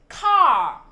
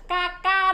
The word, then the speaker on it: car: Chứ không phải là các con phát âm là ca ca đâu.